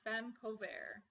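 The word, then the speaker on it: feme covert: is that there is a legal concept called femme covert. It's spelled F-E-M-E and then C-O-V-E-R-T.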